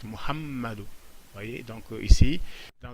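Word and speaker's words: Muhammadu: En bas, ce n'est pas Muhammadou, c'est Muhammadou. Donc la couronne est sur le mime, le me, donc c'est pourquoi j'insiste Muhammadou.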